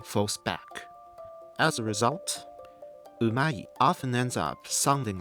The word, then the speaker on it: う: Some materials explain it like this: ''Japanese 'う' is different from Mandarin 'u'. Don't round your lips. Relax your mouth. Move the tongue forward.